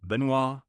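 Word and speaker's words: Benoit: According to Cajun tradition, the name Benois, pronounced Benois, is a heartfelt tribute to his French ancestry.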